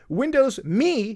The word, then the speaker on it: Windows Me: Windows 3.0, Windows 3.11, Windows 95, Windows 98, Windows Me, yes, that's how they pronounce it, Windows 2000, Windows XP, Windows Vista, Windows 7, Windows 8.1, Windows 8, then 8.1, and then Windows 10.